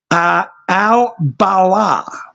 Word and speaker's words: al-Balah: The Israeli military carried out a drone strike in the village of Deir al-Balah.